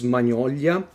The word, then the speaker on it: Magnolia: of Ender Magnolia and I hope hope I'm pronouncing Magnolia correct because in Italian is manolia so soft G I think it's a hard G in English not really sure about that memory on the land